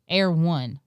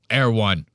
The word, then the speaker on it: Erewhon: But he calls it like Air One. Yeah, he completely pronounces it wrong. I don't even live in LA and I pronounce it right. Erewhon.